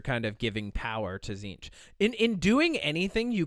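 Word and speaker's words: Tzeentch: him as the God then there's zinch zinch is spelled TZ n t c zinch okay zinch is the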